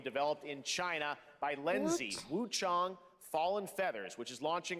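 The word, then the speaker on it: Wuchang: in China by Lindsay Wu Chong Fallen Feathers, which is launching on July 24th. Here's a look. Wu Chong, I like how you said Wu Chong and not like Wang.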